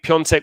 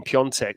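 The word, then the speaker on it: Piątek: real eye-opener for us i think piontech was the first instance of people realizing that certain accents on vowels could then add a consonant you know there's no n in pyeontech but there's that weird squiggle on the a and i think there's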